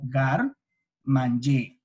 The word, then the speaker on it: garde-manger: Me gustaría que todos encendieran sus micrófonos un segundo y se repitieran para sí mismos cómo se pronuncia el garde-manger, que viene siendo como gar-manger, ¿sí?